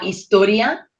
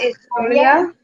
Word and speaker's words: historia: la historia, La La historia. remember H is silent, las matemáticas, Las matemáticas.